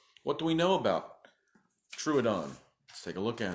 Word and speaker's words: Troodon: It's been pronounced Troodon, Troodon. I've seen it about 5 different ways, and the last way that I saw it pronounced that I'm going to use today is Troodon.